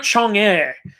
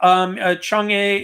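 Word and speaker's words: 嫦娥: Oh, I think you're talking about Chang'e. Yeah, Chang'e it's spelled really weird.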